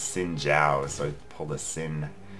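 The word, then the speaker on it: Xin Zhao: So I totally pulled a Zin there. I think it's actually pronounced Sin Jiao.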